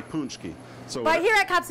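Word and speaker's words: pączki: Some say it's supposed to be punchki. Okay. Some say it's supposed to be punchki.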